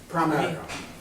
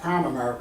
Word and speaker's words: Primerica: Primerica, Prime America. not Prime America, a lot of people pronounce it that way.